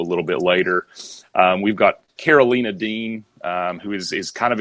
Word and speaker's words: Karolina: I went the whole Runaways podcast calling our Carolina but you know I even said watch what happens when Hulu releases and it's Karolina so mispronunciations are are clearly we always read that as Carolina and then her name has been mentioned you